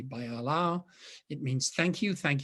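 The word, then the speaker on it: Баярлалаа: with brush and that says bayalala which is pronounced actually by alao it means thank you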